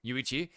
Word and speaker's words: Yuichi: Yuichi.